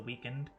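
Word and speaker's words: The Weeknd: the weekend on purpose I think it's actually supposed to be pronounced the weekend um personally I think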